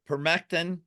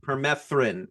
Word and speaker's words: permethrin: Okay, so permectin or a DEET product. Yeah, permethrin with a TH.